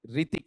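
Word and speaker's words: Hrithik: यहां बताओ एच बोला जाएगा या साइलेंट रहेगा? साइलेंट रहेगा। ठीक है? रितिक नहीं है। रितिक इतना ही है आपका ना।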